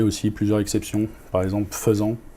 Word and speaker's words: faisant: Par exemple, faisant, en français, FAI, qui se prononce feu, alors que c'est AI pour et.